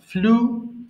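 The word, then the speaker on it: flew: ফ্লাই উড়ানো, ফ্লাই, ফ্লু, ফ্লোন। ফ্লাই উড়ানো, ফ্লাই, ফ্লু, ফ্লোন। এবার দেখো এটাকে আমরা ফ্লিউ বলি, তাই না? আমরা ভুল করে এটাকে ফ্লিউ বলি, এটার উচ্চারণ হবে ফ্লু, ফ্লু।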